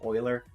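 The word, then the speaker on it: Euler: I always call this uler it's not uler it's Oiler uh is the pronunciation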